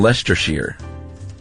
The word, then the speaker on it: Leicestershire: a place called Loughborough in Leicestershire, Leicestershire, it's pronounced Loughborough in Leicestershire.